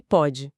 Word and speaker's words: pode: Pode, com acento, é passado. Pode, sem acento, presente. E a pronúncia já é diferente, né? O O fechado contra o O aberto.